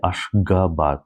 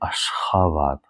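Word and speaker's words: Aşgabat: So I don't say Ashgabat, I say Ashgabat, h.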